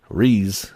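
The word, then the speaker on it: Riesz: the noble thief and REE I guess that's how you say her name r i e s z the Highborn capital of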